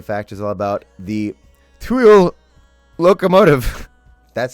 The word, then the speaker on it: Cruo: This week's railway fact is all about the Cruo locomotive.